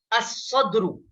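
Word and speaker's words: الصدر: तो यहाँ पर भी देखिए सौद अलिफ लाम के बाद आया है, तो लिहाजा यहाँ पर लाम को साइलेंट पढ़ रहे हैं और उसके बाद वाले हर्फ को यानी हर्फ शमसी जो है उसको मुशद्दद करके हम पढ़ रहे हैं।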